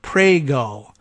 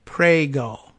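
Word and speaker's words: Pregelj: pronounce it it's pronounced prego PR e GE LJ prego okay there's no G sound at all from the J very difficult to understand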